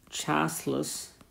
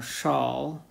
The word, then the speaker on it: Chasles: to that is called chalice or shawl in French I think I'm not exactly sure how to pronounce this French name but I think it's pronounced shawl but but let's just